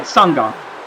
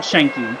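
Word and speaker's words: Sanga: I always get his name wrong because it's Sangha, because it's not Shanky.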